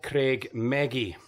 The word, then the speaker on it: Creag Meagaidh: thanks to this noticeboard we now know the correct pronunciation for this nature reserve it's called craig maggie and it's a great